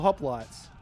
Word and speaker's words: hoplite: All confirmed the correct pronunciation for this unit now. Is it actually Hoplite for Hoplites?